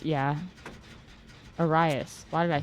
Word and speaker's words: Arias: Luis Iris? Yeah. Arias.